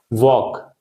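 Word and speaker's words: walk: वॉक, तो L silent है, ठीक?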